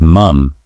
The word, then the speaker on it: mum: In the UK, it's mum with that short vowel sound.